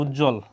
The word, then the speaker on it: উজ্জ্বল: হ্যাঁ, সান্ত্বনা বানান দেখবা বানান নির্ণয় আসে এবং উচ্চারণ কি সান্ত্বনা। এরপর দ্বন্দ্ব, দ্বন্দ্ব, দ্বন্দ্ব বানানো আসে অনেক সময়, দ্বন্দ্ব। তারপর কি উজ্জ্বল, উজ্জ্বল, এখানে হসন্ত দিবা, উজ্জ্বল।